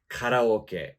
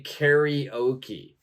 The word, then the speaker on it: karaoke: I think, the traditional pronunciation of this, the Japanese pronunciation of this would be karaoke. But in English, we're going to say karaoke.